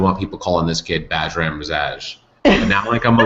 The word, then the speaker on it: Bajram: So the story behind my name is that in the Albanian language, my name is spelled with a J. So other Byrams that you would meet in Albania only spell it Bajram. And so Bajram. Bajram.